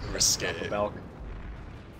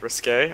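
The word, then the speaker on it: risqué: Risque. I love that word. Risque? Oh my god. I don't even. It doesn't mean risky, it just means. You just like it because it rhymes with gay.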